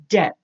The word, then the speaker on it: debt: it but to be you do not pronounce the B it is pronounced like the word bet what you put a D in front of it and it's going to be debt what is it debt